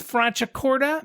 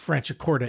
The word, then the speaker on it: Franciacorta: In Italian, when you see the letter C followed by an I or an E, the C is pronounced ch, like the word check, not S as it is in English.